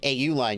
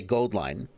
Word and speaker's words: AU Line: The actual name of the company is Gold Line. So I'm told AU is the chemical symbol for gold. And so instead of saying AU Line, you should say Gold Line.